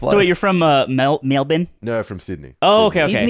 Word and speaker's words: Melbourne: So wait, you're from Melbourne?